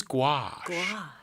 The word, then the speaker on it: gouache: What is gouache? Gouache is spelled in a very strange way, Gouache.